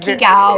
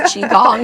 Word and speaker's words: Qigong: Don't try to sound it out. It's the hardest part of Qigong is just learning how to say it. It's not Qigao, it's Qigong.